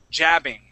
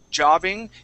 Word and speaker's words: jabbing: Now I want to practice this A sound, how we say ja. Okay, this is more like an ah. Okay, it's jabbing. Jabbing. Okay. Good. One more time. Ja. Jabbing. Jabbing. Good. Much better. Yeah. Sometimes those who are learning English tend to say jobbing and use more of an ah sound, okay?